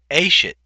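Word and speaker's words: אֵשֶׁת: Under Isha, and again, these are irregular construct forms, Isha becomes Ashet. The accent is actually on the first syllable here, and then so it goes Isha, Ashet, Nashim, and then Neshe for the construct plural.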